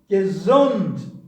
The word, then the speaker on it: Gesundheit: Pronunciation. Gesundheit.